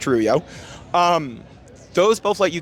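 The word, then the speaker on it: rujo: wallet or even moner Rubio r-u-j-o but it's pronounced ruyo um those both let you keep your view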